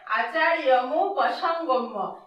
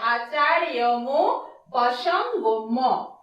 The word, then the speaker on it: আচার্যমুপসংগম্য: আ চার রয়ে হসন্ত য় মু প স গ ম, ময়ে জফলা আছে, গম্য উচ্চারণটা হবে। তাহলে আচার্যমুপসংগম্য, এটাকে বিশ্লেষণ করলে আমরা এইভাবে পাই এবং এভাবে উচ্চারণটা করতে হবে, আচার্যমুপসংগম্য।